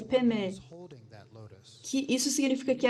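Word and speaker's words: padme: Mas, no fim, é um e, peme, não padma. Então, o que significa aqui, que é peme?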